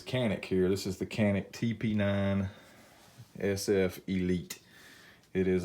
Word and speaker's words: Canik: here this is the canik tp9 SF elite it is a wonderful gun a lot of people it's actually a jean ik as the way it's pronounced a lot of people give Kanak crap but I will